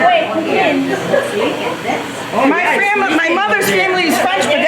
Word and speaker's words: poutine: Somebody tell me how to say it right. It's Putin. Putin. Oh, the in. Okay. Not Putin, but Putin. Yeah. Putin. Oh, is that better? Perfect. Is that better? Yes. That's the right way, Putin.